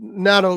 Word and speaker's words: natto: Okay, I'm going to show you all what natto looks like too. By the way, and is that the right way to pronounce it?